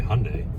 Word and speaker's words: Hyundai: how you say it yeah you can say Hyundai I just never knew that okay well we